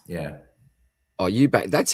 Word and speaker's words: Eubanks: Do you know how to pronounce that name there for me, Boz? Yeah, that's Eubanks. Yeah. Oh, Eubanks.